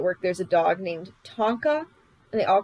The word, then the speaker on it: Tonka: Tonka. There's a dog named Tonka. Well, how do you say it? Say it. Tonka. Tonka. Tonka. Tonka. Tonka. Tonka. Like the trucks.